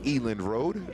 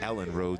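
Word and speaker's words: Elland Road: a bit so I think it's elen Road properly pronounced and in the queen's English I say Ellen Road sounds like a small Road in Arkansas now down the right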